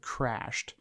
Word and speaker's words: CR4SHED: this list is called Crashed. Now, it's spelt a little different. It's like CR4SHED. So it's not with an A. It has a 4 instead of an A, so keep that in mind.